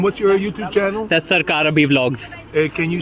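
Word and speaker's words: Sarkar Abhi: abash abash and what's your YouTube channel that's sarar ABI Vlogs hey can you spell that please sarar s a r k a r a b h i sarar ABI Vlogs oh wow excellent because some people are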